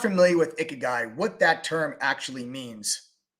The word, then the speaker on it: ikigai: the term called guy I think it's pronounced icky guy if you're not familiar with ikigai what that term actually